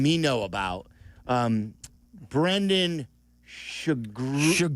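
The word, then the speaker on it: Sugrue: It's spelled s u g r ue e. Try it again. Shagru.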